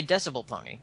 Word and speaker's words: dBPony: dBPony. dBPony. Or just say Decibel Pony. Decibel Pony. Oh, D. See, that's what it stands for.